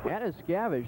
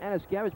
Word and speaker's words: Anuzkiewicz: Anna Scavage, that's one heck of a name. It's not even, it's called Anna Scavage, but you spell it Anuzkiewicz.